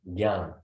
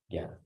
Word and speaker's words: jnana: Jnana. Jnana.